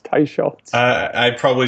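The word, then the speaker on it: Teicholz: for 10 years and I realized last week that I mispronounce her name but it's tyz uh I probably said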